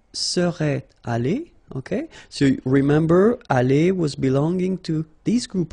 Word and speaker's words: allée: Okay, but then phonetically it doesn't exist. All right, so it's aller here and then aller here, the way you pronounce it.